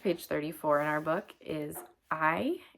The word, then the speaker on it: hay: Also the next page, page 34 in our book is I h a y. it's pronounced I and it means there is or if you're talking about something plural it can mean there are.